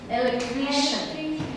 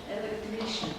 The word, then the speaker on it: electrician: Там Си и Ай будет Ш. Все вместе. Еще раз. Electrician. В конце читается как шин. Electrician.